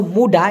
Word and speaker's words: muda: তো এই মুডা, মুডা মানে কিন্তু কাঁচা ভাই, MUDA, উচ্চারণটা হলো মুডা, এটার মানে কিন্তু কাঁচা, যেটা এখনো পাকে নাই, হ্যাঁ কাঁচা।